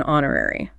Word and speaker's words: honorary: By the way, to change the subject, the silent H in honorary.